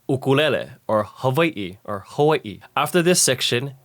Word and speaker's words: Hawaii: we won't say words incorrectly like ukul or Hawaii instead we will say them correctly like ulele or Hai or Hawaii after this section you know how